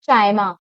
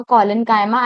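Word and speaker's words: collenchyma: Second is कोनकाइमा and please don't pronounce it चाइमा। Some students pronounce it like चाइमा बट इट्स पैरेंकाइमा, कोलेंकाइमा एंड the last one इज़ क्लरेंकाइमा।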